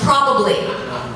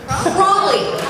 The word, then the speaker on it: probably: a b l y probably has three syllables it's spelled like this and it's pronounced probably it is not in fact probably I had an email